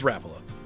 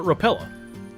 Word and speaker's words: Rapala: I think it's Rapala. My dad calls it Rapella.